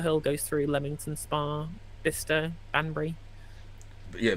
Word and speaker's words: Bicester: goes through lemington Spa bister banry yeah B which is Bicester for Americans yet another name that is not spelled how it's pronounced well the cers never